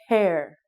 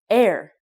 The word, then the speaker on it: hair: it is hair again when you make the H sound it's a strong breathe out hair if you don't say the H sound it sounds like air when you want to